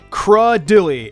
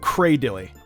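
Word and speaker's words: Cradily: of illa me say this is one of the strange ones because the s in the proper pronunciation sounds like a crud dilly instead of cradle II banette instead of beignet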